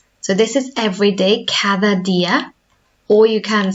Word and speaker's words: cada día: Cada día. Todos los días. So both have that th sound. Cada día.